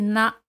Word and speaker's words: n'a: Se elimina la letra E. Se dice na.